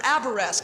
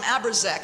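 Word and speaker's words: Abourezk: It was an amendment by Senator Aberesk. At the time, I called him Aberzek. I didn't even know how to say his name, and I didn't really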